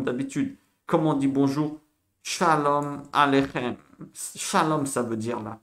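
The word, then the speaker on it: שלום עליכם: Attention, KH se prononce comme la Jota. KH, c'est Ra. Shalom Aleichem, pas Shalom Aleikem. Non, c'est Shalom Aleichem.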